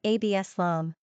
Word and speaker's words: Absalom: Number of syllables, 3. Ranking popularity, not applicable. Pronunciation, AB-sə-lahm.